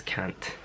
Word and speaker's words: Kant: I'm going to try and say it right and not say it the way everyone else has been saying it, but it's Kant. K-A-N-T.